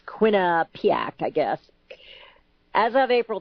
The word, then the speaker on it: Quinnipiac: And this is, again, coming from the Quinnipiac University National Poll, and yes, nobody can pronounce it. It's Quinnipiac, I guess.